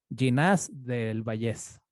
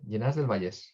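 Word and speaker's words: Llinars del Vallès: Te mando un abrazo y saludos hasta Ginás del Vallés. De Vallés, ¿no? Sí, sí, Llenas del Vallés. Ahí, del Vallés, ahora sí lo pronuncié bien.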